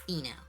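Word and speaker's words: Stheno: I think, yeah, the S is silent. It's Theno.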